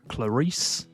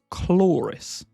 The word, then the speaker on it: Chloris: I didn't know whether it was Clarice, whether it was Cloris, but apparently it's actually Chloris. Kind of like the word floor, but claw.